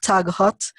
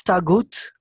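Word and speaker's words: طاغوت: It's not tag hot. It's tagut.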